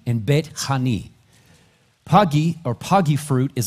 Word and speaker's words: Bethany: of Beth in Bethany the word is actually pronounced bet pagi and betani pagi or pagy fruit is a fig in